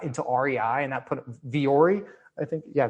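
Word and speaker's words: Vuori: They got into REI, and that put Viore, I think. Yeah. Viore is how you pronounce it.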